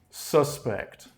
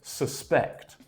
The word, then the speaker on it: suspect: the noun is pronounced suspect suspect he is a suspect but a verb is suspect suspect okay so the stress for the verb is on the second syllable pect suspect suspect but